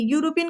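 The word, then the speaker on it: European: आ रहा है ई, स्पेलिंग ई से स्टार्ट हो रही है, बट साउंड कैसा दे रहा है, यूरोपियन। साउंड हमारा कंसोनेंट साउंड दे रहा है, क्योंकि का से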